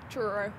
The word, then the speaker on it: Truro: How do I pronounce it? Truro.